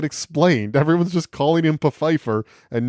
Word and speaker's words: Pfeiffer: president's Black Butler Desmond peifer yeah it is pronounced peifer it's spelled like Fifer like Michelle Fifer yeah I think that was